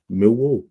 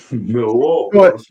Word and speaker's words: Millwall: And it's pronounced Milwall. Milwall.